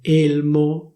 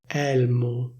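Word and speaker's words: elmo: Instead of saying /élmo/, they say /èlmo/, /èlmo/. The same also applies to certain suffixes.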